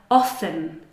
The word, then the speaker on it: often: We have the word often, often.